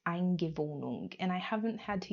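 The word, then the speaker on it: Eingewöhnung: But in Germany, there's this thing called, I think it's pronounced Eingewohnung, and I haven't had to use this word,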